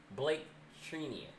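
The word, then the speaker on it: Blake Treinen: But then we also had Dodgers re-sign Trini, and I always think I'd be saying his name wrong. What's his name? It's Blake Trinia.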